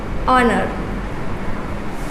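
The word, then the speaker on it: honour: तो कॉन्सोनेंट के अकॉर्डिंग यहाँ पे ए यूज़ करना चाहिए, लेकिन एच हमारा साइलेंट होता है और इसका प्रोनाउंसिएशन, इसका उच्चारण हम लोग क्या करते हैं, ऑनर।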